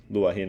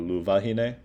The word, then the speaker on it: luahine: It just goes luahine instead of luvahine. So there are like certain cases, but like W is actually pronounced as V, but they are in free variation, but it technically in this word in particular, it is grammatically incorrect.